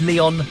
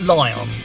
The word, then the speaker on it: Lion: i choose leon and just demolish everyone and yes it's supposed to be pronounced leon and not lion for me virtue fire